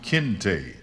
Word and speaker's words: Kinte: that his name was kinte a sharp two syllabic angular sound kinte which the little girl